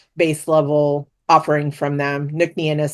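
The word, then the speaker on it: Ncnean: And the long spelling of it is looks very Celtic, but the way you pronounce it is Nuclean.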